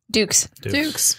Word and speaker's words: Dux: Dukes. It's spelled like Dux, but it's Dukes.